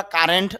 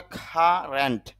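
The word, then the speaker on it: current: যদিও আমরা কারেন্ট বলি, তবে শুদ্ধ উচ্চারণটা হবে কারেন্ট। কারণ সি এর উচ্চারণ যদি ক হয় এবং শব্দের শুরুতে আসে, তখন তা মুখ থেকে একটু অতিরিক্ত বাতাস বের হয়, তখন ক না হয়ে উচ্চারণটা হয়ে যায় খ।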